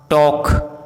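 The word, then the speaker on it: talk: यदि किसी वर्ड में MN साथ में हो तो एन का उच्चारण साइलेंट होता है, जैसे autumn, column, dam, him, condemn, सोलम।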